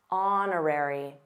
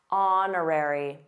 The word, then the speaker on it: honorary: a new point but did you notice that honorary honorary the same thing for Honor because honorary comes from the word honor no age and also our our those are very common silent hes let's continue through every